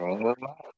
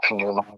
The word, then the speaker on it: pneuma: here, this you say it's acceptable to say either Numa. This pi is silent or sounded in construction. Different people do it different ways. In strict accuracy, it probably was pronounced in ancient times. So pneuma would be more strictly accurate pronunciation, but it's fine to